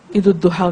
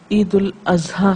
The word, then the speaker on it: عید الاضحیٰ: جی ہاں، بعض لوگ عید الاضحیٰ کو عید الضحیٰ کہتے ہیں، جبکہ یہ عید الاضحیٰ ہے.